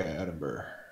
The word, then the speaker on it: Edinburgh: Edinburgh. It's EDIN. Yep. Burr. Okay, Edinburgh.